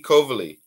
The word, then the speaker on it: Coveley: inner today I'm joined by my sister kovali hi hello hello I'm so happy you pronounced my last name right that's awesome great